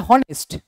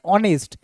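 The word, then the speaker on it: honest: হচ্ছে এন কেন হবে কারণ এখানে এইচ এর উচ্চারণ হচ্ছে না কি উচ্চারণ হচ্ছে অনেস্ট আগে কি আসছে অনেস্ট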